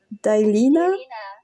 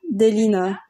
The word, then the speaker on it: Delina: » Et une autre question dit « Et si la société, c'est Dailina ?» Delina. Ok, c'est comme ça qu'on prononce son nom, Delina.